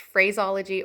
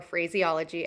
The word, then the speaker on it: phraseology: talking about phraseology and it can really be pronounced phraseology or phraseology I've heard a lot of it pronounced as phraseology so that's what I'm gonna use in this video um so phraseology that